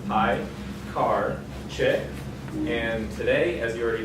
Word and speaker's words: Piekarczyk: My name is Piekarczyk, it's pronounced Piekarczyk, and today, as you already know, I'll be professing my love to ReasonML.